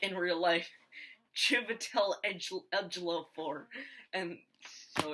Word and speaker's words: Chiwetel: Yeah, Chiwetel Chiwetel. Looks like a V, but it's a W.